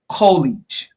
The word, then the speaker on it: UCOLLEIGE: Some people may pronounce it, but the U is pronounced Y-O-U, UCOLLEIGE.